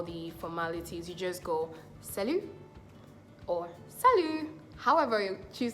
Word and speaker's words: salut: beginning salut means hi let's see it together sell you sell you Sal you yeah that's how you say it sell you that means